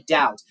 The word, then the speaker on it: doubt: of course and we have also without a doubt and pay attention to this silent be okay the be and doubt is silent so without a doubt okay um I believe that you all that